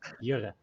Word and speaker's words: Jurre: Like Dutch people pronounce it Jurre. Jura. Yes, Jura.